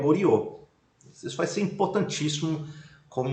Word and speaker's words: Goryeo: E Goryeo vai ser o nome no qual vai depois inspirar, né, vão evocar o nome Goryeo, na pronúncia ocidentalizada vai ser Coreia, né? Coreia.